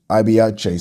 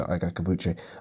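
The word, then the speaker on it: Ike Ibeabuchi: And it's weird how people pronounce it. Ibiache, some people say. But in Nigeria, we say Ike Akabuche.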